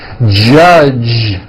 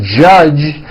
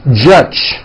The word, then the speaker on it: judge: So, for example, many foreign speakers would pronounce the word judge as judge, turning that last sound into an unvoiced CH. Judge. And that is not right. The J sound in American English is always voiced.